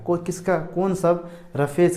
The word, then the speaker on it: roughage: आगे हमारा रफेज, इसको क्या पढ़ते हैं, इसका जो प्रोनाउंसिएशन होता है इसको बोलते हैं रफेज, है ना।